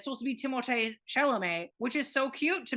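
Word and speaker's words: Timothée Chalamet: supposed to be pronounced timot Shel he's French his dad named him timot and it's supposed to rhyme it's supposed to be timot Shel which is so cute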